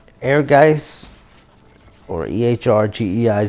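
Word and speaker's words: Ehrgeiz: could have been on here and it's not air guys or EHR GE I Z however you want to pronounce it that's the correct pronunciation as far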